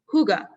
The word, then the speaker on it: hygge: like who and then the second syllable the ga is almost non-existent so it's like hygge so everyone to yourself